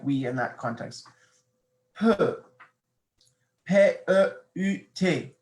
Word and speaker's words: peut: Peut. P-E-U-T. Now notice how the pronunciation is the same.